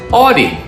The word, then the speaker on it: Audie: a way that's interesting my name is teacher audi that's spelled with an a-u-d-i-e that's a hard name